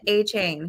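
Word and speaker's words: Achane: So I'm going to say his name right, finally. Devon A-Chain, guys.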